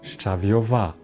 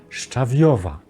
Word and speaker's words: szczawiowa: czy razem z czym spróbujmy więc przy szczyt szcza szczał w wstawi stawiają szczawiowy szczawiowa szczawiowa tutaj również akcje spada na drugą sylabę końca napiszcie w komentarzach jak